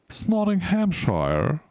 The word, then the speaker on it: Nottinghamshire: I do not mispronounce anything. Nottinghamshire.